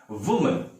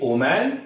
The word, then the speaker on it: woman: Okay, वुमन, वुमन इसका अर्थ तो आप जानते ही हैं नारी। तो इसे आप कभी ओमैन या वुमैन ना कहें, this is वुमन। The right pronunciation is वुमन।